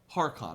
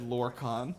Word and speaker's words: Harkon: Harkon. Harkon. What did I say? You said Lorcan, Yeah, but I got Harkon.